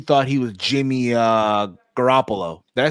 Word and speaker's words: Garoppolo: his mind he thought he was Jimmy uh Garoppolo did I say it right yes he thought